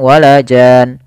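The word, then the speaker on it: جَانٌّ: Nah, di sini ada bacaan gunnahnya, yaitu di nun tasydidnya tidak langsung wala jan. Tapi dia ada nannya. Wala jan. Ya, dia diakhirkan dengan nun yang berharokat tasydid, ada nya ditahan.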